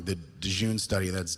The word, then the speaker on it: Dhejne: down because I don't want to get the name wrong, the Dhejene study, that's Dhejne, which is a long-term study in Sweden which